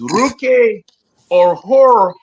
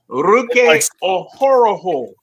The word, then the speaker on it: Ruke Orhoro: Our number 2 pick was Ruke Orhoro. Now think of Scooby Doo and just go. Oh. That's basically how you say his name. Ruke Orhoro.